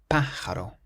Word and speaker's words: pájaro: This next word has an accent on the first A. This word means bird, and we pronounce it pájaro, pájaro.